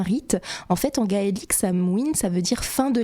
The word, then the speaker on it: Samhain: ça se dit pas Samhain en fait ça se dit Samhuin Samhuin OK pas du tout